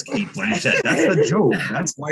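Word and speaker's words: Cate Blanchett: That is, what is carte blanchette? I know it's Kate Blanchett.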